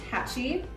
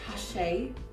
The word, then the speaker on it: hacci: This fabric is called Hacci in the US. In the UK, it's pronounced Hache. Fabric, something like that.